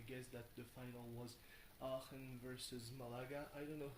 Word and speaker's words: Aachen: in English, so I'm just gonna say the German name, which is with a bit of English pronunciation, Aachen. Aachen.